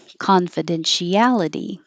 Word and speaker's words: confidentiality: a long time confidentiality confidentiality this ti is she for sure this is something